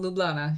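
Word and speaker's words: Ljubljana: or is this Slovakia no you're right Capital lublana yeah okay see whenever I am trying to pronounce something Slavic and there's a j I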